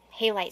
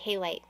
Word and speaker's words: halite: uh how light highlight hey light sorry halite i always say it wrong this is your reading